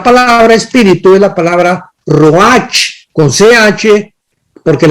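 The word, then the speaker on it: רוח: espíritu es la palabra Roach con ch porque la ch en el hebreo se pronuncia como J raj entonces etimológicamente la raíz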